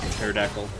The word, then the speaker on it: pterodactyl: okay at the beginning what other words have a silent first letter pterodactyl enough of that nonsense let's just finish beating this guy down 12 156.